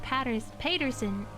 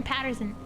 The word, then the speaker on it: Paterson: a learned friend of Paterson. Paterson? Is that how you say it? Paterson or Patterson? New Jersey. Sure, I did it because of what? Yeah, totally because you got Patterson? Okay. Patterson, New Jersey.